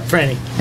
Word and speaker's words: Franny: Yep, Franny.